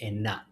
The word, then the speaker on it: enak: So say it like you mean it or like enough. Right like get really enthusiastic about saying it was delicious. Let's do that. Enough. Enough. Enough. There you go. And then remember the K is silent.